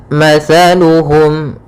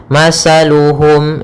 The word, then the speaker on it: مثلهم: Sehingga ketika pelafalan tha, jangan sampai kita melafalkannya dengan masaluhum dengan huruf sin. Hati-hati, sering terjadi ya, yang kesalahan adalah mengganti huruf tha dengan huruf sin sehingga dibaca masaluhum.